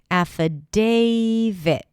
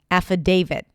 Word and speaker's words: affidavit: The first sound is a as in cat. Then we have fu. Fu fu an f sound and then awah. The spelling in the spelling you'll see the letter I but it's actually awah sound. A then day. That's the primary stress. Affidavit. It's like David but with a T.